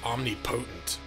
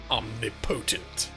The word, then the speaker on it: omnipotent: I always see omni potent. It's like you could knock everybody up with just looking. You just look across the room, everyone's knocked up. Omnipotent. Anyway, uh but it is pronounced omnipotent.